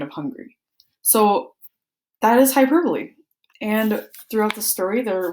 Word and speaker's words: hyperbole: The four-letter syllable pronounced hyperbole.